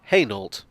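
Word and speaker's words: Hainault: similarly french looking is this station but it's pronounced heynolt this station name is a mess there's an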